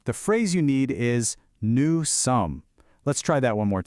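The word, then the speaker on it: nous: First, to say we are, the phrase you need is new. Let's try that one more time. New. The pronunciation for that is new.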